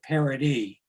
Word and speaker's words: Paradis: paradise by the way there's no e on the end of my last name it's p-a-r-a-d-i-s no well d-i-s not e no e that's the old french pronunciation all right we'll fix it and pronounce it parody thank you merci beaucoup